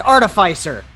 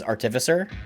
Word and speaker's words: artificer: say that all right I think the correct way to say it is artificer why do you say artifice like an art like artifice is like it's like a lie right or like it's a